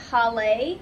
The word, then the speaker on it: Holle: pronounced i think it's it's spelled h-o-l-l-e i think it's pronounced holley i don't know i probably